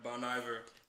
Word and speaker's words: Bon Iver: Yeah, Bon Iver.